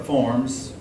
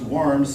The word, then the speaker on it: Worms: like sometimes that's pronounced worms so i call it a concord warm site now that can be your book says that can be pronounced worms i've already pronounced forms your book gives both pronunciations but in this concordance